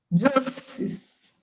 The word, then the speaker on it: juices: Juices.